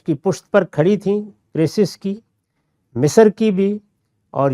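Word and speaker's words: Croesus: جو وہاں کے حکمران، ہمارے ہاں تو اس کا تلفظ زیادہ تر کروسس ہے لیکن انگریزی میں کریسس ہی ہے۔ تو اس نے وہاں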